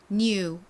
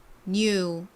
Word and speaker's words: new: new, new. 여기서 이중모음 EW는 대체로는 U 발음이 나는데 몇몇 개의 단어에서는 우로 발음이 되기도 한다라고 말씀을 드렸었죠.